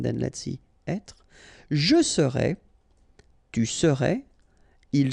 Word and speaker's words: serais: Je serais, tu serais, il serait, elle serait, nous serions, vous seriez, il serait, elle serait. Okay, so let's see how it goes. Je serais, final S not pronounced.